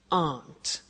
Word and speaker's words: aren't: they aren't cheap so the difficult here is the pronunciation of a not which is Aunt okay Aunt good so